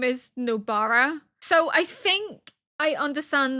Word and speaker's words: Nobara: know that how you say her name is Nobara.